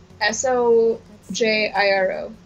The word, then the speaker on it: Sojiro: How would you pronounce a name in Japanese spelled S-O-J-I-R-O?